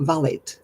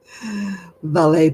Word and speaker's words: valet: Not valet. No, valet. We pronounce it the French way, valet. Valet parking, yes.